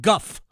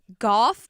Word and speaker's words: guff: Seriously, when he takes a lot of guff. I mean, that's like, I think my grandfather said that. Yeah. I know. Well, I was at first says like Goff, but Guff.